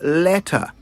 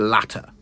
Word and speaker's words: letter: letter not to the latter now I'm sure it will be easy for us all to remember from now on it's not to the latter it's to the letter that is how you say it right H